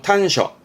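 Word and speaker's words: 端緒: 발음은 탄셔.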